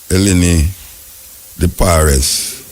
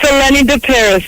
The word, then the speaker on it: Eleni de Paris: I don't know if I'm pronouncing the name right, so make an ask her. You can pronounce the name for me, Mama. It's Eleni de Paris, but very close.